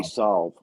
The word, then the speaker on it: salve: Is that how you say it? I say solve. Solves. It's like you're going to solve a problem.